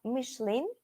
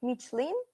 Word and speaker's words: Michelin: first company then uh Michelin or Michelin both pronunciations are correctness next one Yahoo Samsung